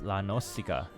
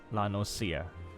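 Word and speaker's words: La Noscea: So some people read it as La Nocica, but it's actually La Nocia. Even in the Japanese language, it is just pronounced La Nocia.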